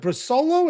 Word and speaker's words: Brusolo: Is it Brusolo? Is that how you pronounce it? Yes, sir.